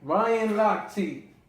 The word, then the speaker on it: Lochte: Your man Ryan Lochte, because you corrected me, I was saying it wrong. I was calling him Lochte. Yeah, like his name just looked like it.